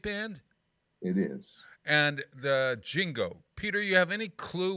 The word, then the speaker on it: Jingo: be a band named jingo this is going to be in september now spell that j-i-n-g-o jingo bingo now let's it's a